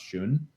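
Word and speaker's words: Shun: they're like I think they're pronounced Shoon s-h-u-n and they're incredible knives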